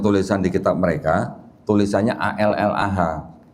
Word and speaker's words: Allah: Jadi saya mengutip dan saya membaca sesuai dengan tulisan di kitab mereka, tulisannya ALLAH. Saya bacanya Allah karena nggak ada tasdidnya Pak ya.